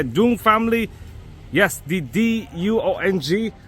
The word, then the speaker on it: Duong: Yes, the D-U-O-N-G, Duong, as they pronounce it in Vietnamese, but let's say Duong because we're actually Westerners.